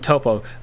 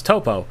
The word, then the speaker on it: Toppo: about god of destruction topo um actually it's god of destruction top no it's toppo have you heard the